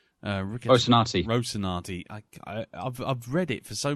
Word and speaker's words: Rocinante: And the fact that you get I can never pronounce the bloody name, Rocinante. Rocinante.